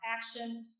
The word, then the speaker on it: Axioned: Axioned is pronounced Axioned.